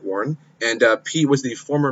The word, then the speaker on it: Warren: And Elizabeth Warner, or Warren, not Warner, Warren.